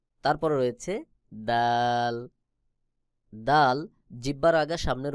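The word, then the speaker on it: ر: জিহ্বার agar পিঠ তার বরাবর উপরে তালুর সঙ্গে লাগাইয়া র উচ্চারণ হবে।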